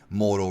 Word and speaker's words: Moro: And in case you're wondering why I pronounce it Moro and not Moro, I think it's because I'm Hispanic. I'm of Hispanic heritage, and we have food. I'm Cuban, and there's a Cuban food called moro. So I'm just so used to pronouncing it moro with the tongue up.